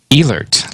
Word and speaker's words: Ehlert: your last name properly elert long e silent h all right yeah no